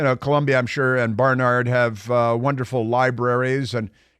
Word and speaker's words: Barnard: got into to Barnard which you have to pronounce like that Barnard and it's best if